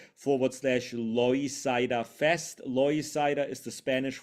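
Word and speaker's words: Loisaida: um page uh which is link t ./ loida Fest loida is the Spanish word for l Lower East Side it's spelled l o i s a i d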